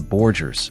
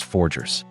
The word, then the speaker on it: Forger: Still, he mispronounced it as the Borgers, prompting Barbara to gently correct him, saying it was forggers.